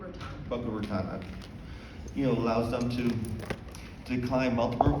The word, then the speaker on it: Boca Raton: Being 1,300 miles away from Rocco Raton allows them to, I said that name wrong, Raton. Boca Raton.